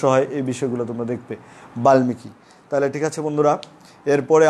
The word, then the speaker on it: বাল্মীকি: ক্লাসটা আমি বলেছিলাম যে বাল্মীকি উচ্চারণটা বাল্মীকি অনেকেই বলে থাকে কিন্তু সঠিক উচ্চারণ হবে বাল্মীকি, তাহলে বাল্মীকি উচ্চারণটা কীরকম হবে কোন নিয়মে হবে এই নিয়মে হবে, কারণ লয়ের সাথে ম যুক্ত হলে ময়ের উচ্চারণ হয়।